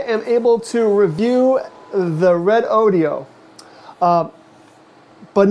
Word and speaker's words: Redodo: video I called it red Odo because that's just what I see red Odo but I've come to learn that it's actually pronounced red audio so uh I apologize